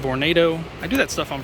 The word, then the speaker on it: Vornado: see this huge vernado born vernito please don't correct me i know it's actually vornado i do that stuff